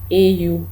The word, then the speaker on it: au: ये जुए के बाद हमेशा ओ लगता है, AU। लिखा AU जाता है लेकिन इसको प्रोनाउंस ओ की तरह किया जाता है, ओ जैसे अल्फ़ाबेट ओ होता है, LMNOPO।